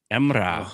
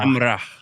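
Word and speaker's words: Emrah: Emra. I love it. Emra. Yeah. And then the H is pronounced as well. So there's a H at the end. Emra. Emra.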